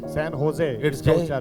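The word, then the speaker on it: San Jose: इन the place of ह they put जे ह की जगह जे लिख दिया। I will give एन एक्स। उदाहरण देता हूं। Where is the duster. Now you pronounce this इसको कैसे उच्चार करोगे आप व्हाई होजे सन होजे क्यों वो तो जे है यस दिस इज वन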